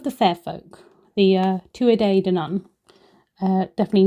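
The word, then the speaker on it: Tuatha Dé Danann: I pronounced this as to dan and have now been corrected. It is the two a day dan not one a day two a day the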